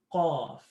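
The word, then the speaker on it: ق: It's the heavier version of kaf. So imagine kaf. If you can pronounce kaf, and then add an ah to it, qaf, qaf. So now instead of saying kaf, you're making it heavy and you're saying qaf, qaf, like awesome versus apple, awesome, qaf, qaf.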